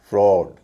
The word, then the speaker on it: fraud: उच्चारण बात करते हैं जो उसका नॉर्मल उच्चारण है और कुछ शब्द देखते हैं जैसे author A यू टी एच ओ R author cause C ए यू S cause F आर ए यू डी फ्रॉड एन ए यू जी